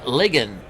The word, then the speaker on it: Ligon: Ligon, as he says, my last name is pronounced like Biggin, except with an L.